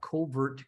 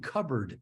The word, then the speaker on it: covert: um and and and that voice mispronounced I talked about covert contracts and you know that might be an interesting thing to dive into he called them covered contracts and and so you